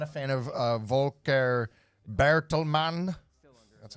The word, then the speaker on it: Volker Bertelmann: I'm not a fan of Volker Bertelmann.